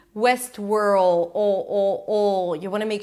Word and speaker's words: Westworld: So I don't really pronounce the T. It's not West. West. Moving on to the next word. World. West world.